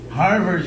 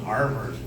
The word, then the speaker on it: Harvard: Bom, então, Harvard junto a aquele R americano, Harvard, okay?